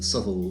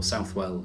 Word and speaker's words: Southwell: We did a gig of the music back in 2018 at a festival in Southwell or Southwell in Nottingham, depending on how you like to pronounce it.